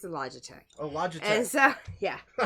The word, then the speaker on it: Logitech: So, the Logi? Is that how you pronounce it? Oh, it's a Logitech.